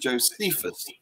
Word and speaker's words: Josephus: about uh josephus or as you americans like to call it josephus you have a predilection for pronouncing the stressing the second syllable anyway here he said